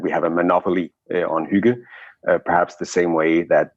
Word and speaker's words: hygge: But let's talk about the principles of hygge and huggies, whatever. What I'm saying. Please pronounce it appropriately so we all understand. So yeah, I've heard many variations, but in Denmark we pronounce it hygge.